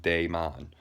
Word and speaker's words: daemon: So the transliteration on how to spell that is either Daemon or Daimon. It's pronounced Daemon.